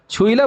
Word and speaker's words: छुईला: छुईला बोलेंगे ना इसको, छुईला। और तार वो तो समझ गया, उसका प्रोनाउंसिएशन छुला, छुईला और तार, इसमें भी डाउट है?